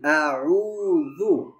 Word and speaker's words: أعوذ: পড়েছিলাম ওই একই শব্দ, প্রথমে হামজা তারপরেটা হচ্ছে আইন, আ উ আউ, তারপরে জাল হবে জিহ্বার আগা দিয়ে নরম। কুল আউযু, قل أعوذ জালটা নরম হবে জু জু।